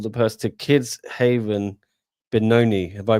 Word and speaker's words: Benoni: So, it was um you're donating 20% of the purse to Kids Haven Benoni. Have I pronounced that right?